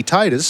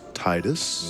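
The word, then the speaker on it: Tidus: and keep Tidy Titus sounding title.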